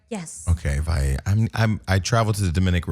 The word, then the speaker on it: Valle: Okay, Valle. I traveled to the Dominican Republic enough that I should know how to pronounce that last name. But 2 L's together sometimes sounds like Y.